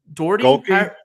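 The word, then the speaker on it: Gohlke: Golke?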